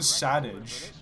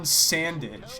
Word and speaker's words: Sandage: aging dev pilot Juan Savage. Excuse me. Juan Sandage. It's spelled like bandage but with an S hired the glimpid killer and podracer aldarbido to assassinate Sabula during the bonta.